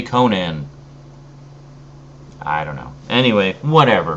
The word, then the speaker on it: Conan: Howard always pronounced it Conan and actually wrote it out as a guide to pronunciation as Co n apostrophe n so Conan but yeah